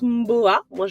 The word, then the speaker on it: Ohmboa: en réalité ça se prononce mon beau à moi je l'aï un peu ça veut dire chez